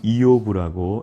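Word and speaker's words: איוב: 우선 명칭을 보시면 첫째 히브리어로는 이오브라고 이렇게 우리가 발음을 합니다 영어로는 주요 이렇게 되어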